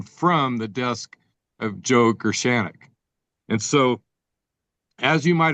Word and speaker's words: Gershaneck: And I'm not sure, I might get the emphasis on the wrong syllable, whether it's Joe Gershaneck or Joe Gershaneck. But I think either one, how is it, Joe? Which is right? Yeah, it's Gershaneck. Gershaneck, okay, is correct.